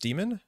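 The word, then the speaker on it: daemon: computer science concept that Damon subtype is of referencing is just pronounced demon I think people say Damon it's probably pronounced demon it does have that archaic like ligature AE combination what were they called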